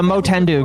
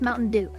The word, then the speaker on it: Motendu: No, the Motendu guy, the VShojo guy. I was like, Motendu. what? Dude, no, they said, okay, the guy came out, he said his name is pronounced Mountain Dew.